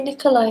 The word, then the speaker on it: Nikolai: Okay, Nikolai. Nice. All right, okay. That's nice to know. Nikolai. Nice name. That's how you say Nikolai in Russian.